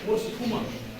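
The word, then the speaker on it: posthuma: त्याच्यानंतर पोस्टुमा स्पेलिंग प्रमाणे उच्चार करा.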